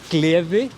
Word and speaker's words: gleði: So you say gleði, that just means joy.